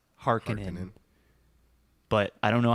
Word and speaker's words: Harkonnen: even remember they say harkenins uh-huh and in the other movie they say harkonnens i like harkonnen's better i think from what i've looked up is the author's true pronunciation is hearkening but i don't know